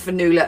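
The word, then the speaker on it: Fionnula: We gave Fanula a bit of a hard name because, it's Irish, and so the O is silent. F-I-O. N-N-U-L-A. Without saying the O.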